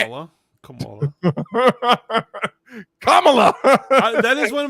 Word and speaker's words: Kamala: Everyone thinks it's going to be Kamala Harris and Trump, but it's really going to be Travis Kelce and Taylor Swift to spark this off.